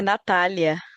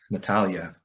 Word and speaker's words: Natália: So I think it's Nathalia or Natalia. I'm not really sure which pronunciation, but É Natália. Natalia.